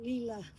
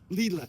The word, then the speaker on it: Lela: I don't want to be rude, but it's pronounced Lela. Lela.